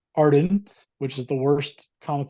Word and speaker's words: Ardden: It was called Arden, which is the worst comic book name ever because no one could pronounce it or spell it.